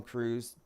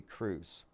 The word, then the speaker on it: Cruz: the actress is Penelope Cruz so you have Tom Cruz penel be Cruz phonetically the same and it all does